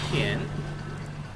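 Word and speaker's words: 电: No sé si la recuerdas cómo se dice electricidad. Se dice tien. Ahí está, tien.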